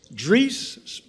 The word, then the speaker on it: Dries: He's Dre Dre pronounced like Greece.